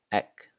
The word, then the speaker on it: egg: And when it is doubled, it sounds more like a K. So here are some examples. Ek, ek, which means egg.